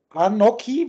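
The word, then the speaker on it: אנכי: Und da heißt es jetzt, das Anoki wird es ausgesprochen, das U fällt aber, das Anoki ein bewusstes Ich.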